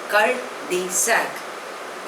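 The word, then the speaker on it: cul-de-sac: cafe the next word is cult D सक spelling is सी यू एल डी ई एस ए C pronunciation is called the सक इट इज an expression च ओरिजनेटेड by French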